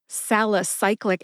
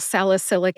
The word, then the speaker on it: salicylic: I will move on she says atic acid instead of acetic acid acetal salicyclic acid I believe that's how she said it instead of acetal salicylic acid which is aspirin so common and instead of